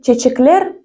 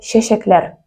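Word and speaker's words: чәчәкләр: Произнести его как чечеклер будет неправильно. А особенность в том, что в татарском языке буква Ч произносится как Щ. Поэтому это будет слово щещеклер – цветы.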